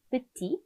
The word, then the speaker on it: petit: 작다, 작은의 의미의 형용사, petit, petit, 마지막 대 발음하지 않고 남성 기본형으로 발음을 하는데 마지막에 을을 붙이면서 여성형으로 만들어주면 petite라고 발음을 하게 되죠.